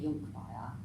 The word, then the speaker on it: Conkbayir: Years, or Neuroscience in Early Years, by Mene Jonkbayar, and that's spelled Conkbayir.